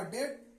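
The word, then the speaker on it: debt: क्या है बी है तो इसका अब इसका उच्चारण होगा डेट जिसका मीनिंग होता है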